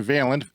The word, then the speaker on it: Vaillant: The author is John Vaillant. It is spelled Vaillant.